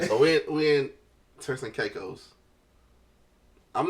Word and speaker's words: Turks and Caicos: All right, so we in Turks and Caicos.